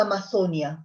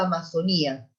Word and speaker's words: Amazonía: Luego tenemos querida Amazonia o querida Amazonía. Algunos acentúan la sílaba final, otros no.